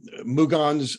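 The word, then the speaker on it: Mougins: in as as gerard uh explained malaga um mugan's france is that am i pronouncing that right yeah okay is where he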